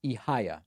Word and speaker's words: Ihaya: Oh, and you say that the name is pronounced Ihaya.